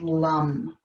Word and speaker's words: lam: So it's spelled L-A-M, but it's pronounced lum.